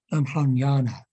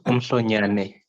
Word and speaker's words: Umhlonyane: The local name, please forgive me if I pronounce it incorrectly, but it's Umhlonyana. Have I got that correct? You're close enough, Prof. It's Umhlonyane.